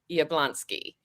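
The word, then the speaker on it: Jabłoński: Uh, there is actually an area like so my last name in Polish is pronounced Yablonsky.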